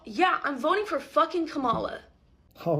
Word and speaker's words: Kamala: So, yeah, I'm voting for fucking Kamala. All right, we're back on the same page. It's pronounced Kamala, though.